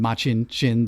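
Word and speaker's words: Machin Shin: going to draw um making shin or which the show is pronouncing machin chin the the black wind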